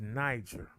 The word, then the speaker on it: Niger: catchers the term is Niger Niger for Nigeria the Nigerian River I'm sor sry the Niger River the term is Niger okay and these ignorant Hicks